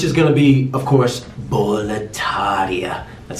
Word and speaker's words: Boletaria: Guys, next up, we have the world that surrounds Demon Souls, which is gonna be, of course, Boletaria.